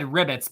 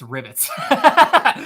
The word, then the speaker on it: rivets: yeah rivets rivets rivets you said ribbits but it's rivets rivets I'm like I'm